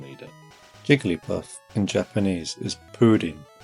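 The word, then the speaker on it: プリン: Jigglypuff in Japanese is purin, pronounced pudding. Yep. It literally is pudding, as in a soft, jiggly dessert.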